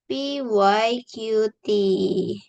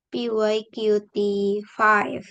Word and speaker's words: PyQt5: Kita pakai modul PYQT. Ini PYQT5 bacanya PY Q T5 bukan P Y Q T.